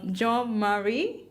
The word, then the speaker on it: Jean-Marie: Okay, I hope I don't butcher your name, but Jean Marie. That's Marie? perfect. That's perfect.